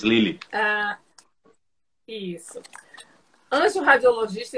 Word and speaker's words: Lille: Pronuncia aí essa última. É Lille 2, Lille.